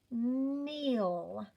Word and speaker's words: kneel: Look at that K. He's sitting right in front of that N. So he doesn't get to say anything. We only have 3 sounds in this word.